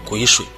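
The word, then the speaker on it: 癸水: This kind of thing is called Guishui . Please don’t pronounce it wrong.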